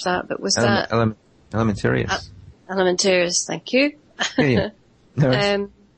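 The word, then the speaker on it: Alimentarius: what I mean, with Codex I can never pronounce the last part of that, but was that Elementarius? Elementarius, thank you.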